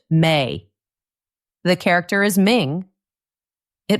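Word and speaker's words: 明: The kanji character for bright it is pronounced may.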